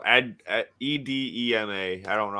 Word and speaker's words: edema: Enema? Not enema. No, edema.